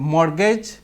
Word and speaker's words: mortgage: এই যে মর্গেজ, এখানে টি আছে, কিন্তু টির উচ্চারণ হয় নাই।